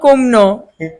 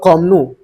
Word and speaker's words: kumno: Shillong kumno. Pilong kumno. Okay. How are you? Pilong kumno. You pronounce it wrong. You're laughing, huh? Once again, say. Belong komnu. Kumno. K-U-M. Kum.